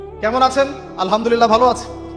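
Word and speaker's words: الحمد لله: আছেন আলহামদুলিল্লাহ ভালো আছি তো আলহামদুলিল্লাহ না বলে সে বলেছে আলহামদুলিল্লাহ ওই যে হা এর উচ্চারণ পরিবর্তন হয়ে গেছে এই কারণে অর্থ পরিবর্তন হয়ে দাঁড়াবে যে সমস্ত নিন্দা আল্লাহর জন্যে যিনি জগৎসমূহের রব আমার কথা কি বুঝতে পারছেন শুধু হা এর মাখরাজ ভুল হওয়ার কারণে এই সমস্যা হলো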